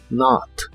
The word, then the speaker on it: not: español must must y la o de not se pronuncia como una a profunda not not must y must not